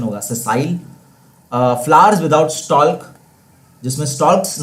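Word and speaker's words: sessile: सेसाइल, सेसाइल इसका pronunciation होगा, सेसाइल।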